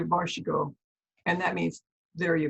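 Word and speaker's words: vær så god: But you say varshigo, and that means there you go.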